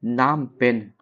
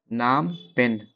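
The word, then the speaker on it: Phnom Penh: Cambodia की राजधानी नाम पेन। नाम पेन। ठीक है? कहीं-कहीं इसका उच्चारण कुछ और भी हो सकता है। हम नाम पेन पढ़ते हैं।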